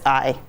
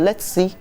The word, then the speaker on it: Letsi: But in Ewe, it's Letsi. So you have to think about going global with it, and you have Americans might pronounce it, let's see, or something.